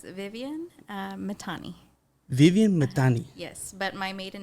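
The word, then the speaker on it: Viviane Mithani: hard to pronounce it can you can you pronounce your name please yes it's Vivian uh matani Vivian matani yes but my maiden name is okay okay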